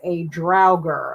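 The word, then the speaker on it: draugr: It says, ' Norwegian stories say that once a fallen Vikan was buried, the body returned as a drowger. I had to go get the pronunciation. A drowger.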